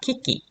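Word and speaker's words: 機器: 전자기기 할 때 기기인데요 일본어 발음으로는 그대로 있습니다 키키 전자기기 하면 낸시키기 이렇게 되겠죠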